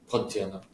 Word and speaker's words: Pontianak: Yeah, but also people will say that they'll see, I don't know if I'm saying this right, but like Pontianacs. Is that how you say it? Pontianak.